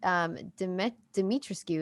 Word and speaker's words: Dimitrescu: And we have all been corrected, especially like when we did it on Trailer Talk, that Dimitrescu is technically how it's supposed to be pronounced, because it is Bulgarian.